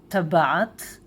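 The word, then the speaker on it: טבעת: And ring in Hebrew is tabat, rings, tabaot.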